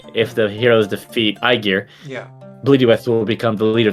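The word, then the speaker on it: Blodeuwedd: Bloodyweth.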